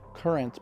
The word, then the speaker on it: QRNT: That's pronounced current, but spelled QRNT.